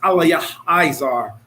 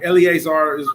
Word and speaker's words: Eleazar: His name is actually pronounced Aliyah Izar, but Eleazar is lawful to say for short.